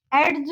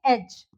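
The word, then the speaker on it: edge: जैसे कि देखिए एज, एज नहीं बोलेंगे हम उसको, हम इसको क्या प्रोनाउंस करेंगे? एज।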